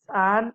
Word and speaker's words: Ahn: It's Ahn and Ur-Ahn. For the pronunciation of Ahn, one need only think of the patron saint of Brittany, Anne.